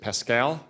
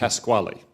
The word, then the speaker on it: Pasquale: Is it Pascal? Oh, Pasquale, thank you. Pasquale. Yeah. Apologize. Pascal is how we pronounce it in Arkansas.